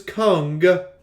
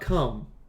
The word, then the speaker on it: Kang: just for pronunciation purposes his name is kung not come i mean he said